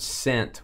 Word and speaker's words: scent: In the word scent, which is silent, the S or the C? I'm going to go the C. Is that the correct answer, Sky? Or is it just a trick question? It's the S.